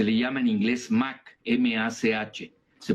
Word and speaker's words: Mach: Se le llama en inglés Mach, M-A-C-H. Se pronuncia Mach, ¿no?